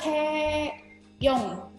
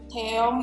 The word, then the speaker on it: Taeyong: Padahal yang benar adalah Taeyong. Taeyong. O-nya O, bukan O. Jadi beda sama si Taeyeon tadi. Kalau Taeyeon ini O, kalau Taeyong ini adalah O.